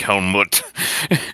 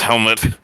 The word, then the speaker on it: Helmet: Is that spelled like the thing you wear, or like Yes. the Scandinavian? Helmet. No, not like Helmut. Okay. It's Helmet.